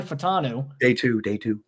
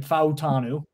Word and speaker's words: Fautanu: just talking about Troy Fatanu. Day two. Excuse me, Troy Fatanu. I got to correct myself now, especially as a guy who gets a little granular about pronouncing people's names right, Fautanu.